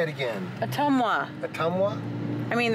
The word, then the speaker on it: Ottumwa: Street the tongue ottumwa a tumor no atoma there's no you in it how do you say it again Ottumwa but um wha I